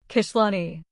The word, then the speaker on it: Kishlani: The emphasis is on the first syllable. Kishlani.